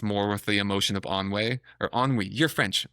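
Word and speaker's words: ennui: the apathetic ones, more with the emotion of onway or onwe. You're French. How do you pronounce it? Onwei.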